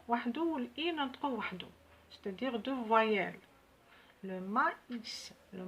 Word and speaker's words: maïs: باش ننطقو لو أ لو مايس ننطقوه وحدو والإي ننطقوه وحدو. c'est-à-dire deux voyelles. le maïs، le maïs.